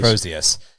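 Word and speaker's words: Crozius: Even as the cru you pronounced this weapon right, the Cruz. Cros Crosius. Crosius.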